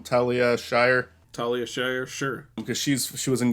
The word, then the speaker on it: Talia Shire: Talia Shire, sure.